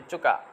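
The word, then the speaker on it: いつか: 5 তারিখের জন্য দেখেন তচুটা আবার বড় চলে আসছে, তাহলে এটা আবার তচুটা উচ্চারণ করতে হবে ইচ্চুকা, ইচ্চুকা। আমরা এটা ইস্কাও বলতে পারবো, কিন্তু এখন বলার দরকার নেই, আগে আমরা সঠিক স্পেলিংটা শিখি।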